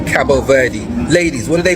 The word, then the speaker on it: Cabo Verde: Cabo Verde or Cabo V with no D, no E.